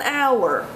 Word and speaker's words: hour: will use an you have to wait an hour after eating before going swimming the age and hour is silent notice it's not how it's hour therefore